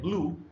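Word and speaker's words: blue: one syllable word है जो दूसरा वर्ड है ब्लू इसमें अगर आप देखें तो वाल्स तो है यू एंड ई बट जो ई है लास्ट वाला वो साइलेंट है सिर्फ उ का साउंड आ रहा है इसमें ये रहा इसका ट्रांसक्रिप्शन इसका प्रोनंसिएशन है ब्लू तो ब प्लस ल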